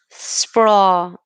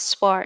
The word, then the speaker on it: sprawl: Sprawl. Not spar. It's sprawl.